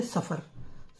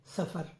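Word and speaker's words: صفر: यह इसको बोलते हैं सफर स्वाद फेरे फर सफर साफरा सफर रबीउल अव्वल तो मोहर्रम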